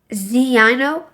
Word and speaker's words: Zino: So how would you pronounce? Well, uh Zino. Zeno.